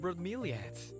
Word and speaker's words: bromeliads: My Isabel loves red bromeliads. Bromeliads. I've been saying it wrong this entire time because my brain has been reversing the I and the A.